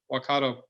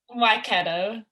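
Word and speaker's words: Waikato: with north harbor and i'm going to say it wrong well i'm trying to say wakato um yeah you guys said it right no no i didn't say that you got close i was close all right say it for me why keto yeah um and you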